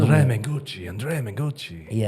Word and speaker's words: Mengucci: Andrea Manguchi.